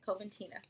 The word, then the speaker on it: Coventina: I want to make sure I'm pronouncing the name right. Let me check that. Yeah, Coventina.